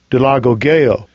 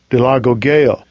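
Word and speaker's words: doulagogeo: Here's a pronunciation. Strong's G 1396. Dilagogeo. Dilagogeo.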